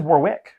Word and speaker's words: Warwick: important Warwickshire Warwickshire Warwick it says Warwick yeah but you don't pronounce the middle of this world you know why that's